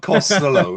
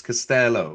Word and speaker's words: Castello: But it's certainly not Costello, is it? The the the counter to it is wrong. It's Castello.